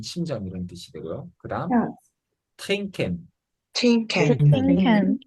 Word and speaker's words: trinken: 그다음 trinken, twinkle, 이 nk가 오면 영어처럼 마찬가지로 이응 받침 발음이 돼서 트린 n 발음이 아니고 nk가 그 이응 받침처럼 돼서 trinken 하면은 영어랑 비슷하게 마시다 이런 단어가 되겠습니다.